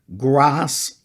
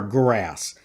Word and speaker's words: GRAS: Term number 6, grass or grass. That's spelled capital G, capital R, capital A, capital S.